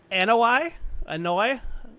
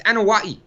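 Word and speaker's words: Anoaʻi: Anoi? Oh, close on that first attempt, man. It's Anawai. Anawai. Okay. Kinda like Anawai. No, Wai. Anawai. Anawai. There's no H. Anawai. Yeah. Interesting. The Anawai family, the legendary Anawai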